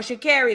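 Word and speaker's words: Sha'Carri: I don't know where Shakari them people at or Sha Carrie, that's how you say her name.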